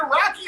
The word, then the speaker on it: Roky: Is it Rocky or Rourke? I think I always pronounce it. It's Roky Erickson.